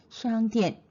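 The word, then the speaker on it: 商店: 前边有个商店 일성을 좀 길게 읽어주세요. 왜냐면 짧게 읽으면 사성으로 들리니까요. 기억나시죠? 수업 시간에 체크했던 거. 商店.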